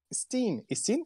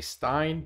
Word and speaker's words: Steen: Steen is the right way to say. Yes. Yeah. Steen. I used to say Stein, but Steen is the right way.